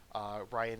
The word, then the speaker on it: Rein: So they recruit a let's see here, Ryan. Sorry, it's spelled weird. It's spelled Rein. Ryan is normally spelled differently, at least in Canadian English.